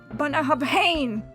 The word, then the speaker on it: Bunnahabhain: And it helps to jerk your head a little bit while you say it. BUNNA-HAB-HANE!